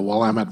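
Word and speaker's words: Willamette: small communities about 10,000 population each in the wamit and that's how you do pronounce it the wamt valley of Oregon we're about 45 minutes from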